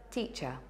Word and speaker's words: teacher: When a word ends in er, the last syllable is usually unstressed and pronounced with the schwa. Listen out and see if you can hear the schwa in these examples. Teacher.